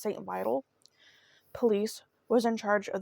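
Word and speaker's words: St. Vital: the now defunct St I believe it's pronounced St Vital police was in charge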